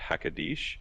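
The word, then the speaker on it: הקדוש: That word is pronounced Hakadish, which basically means the holy one or the sacred one.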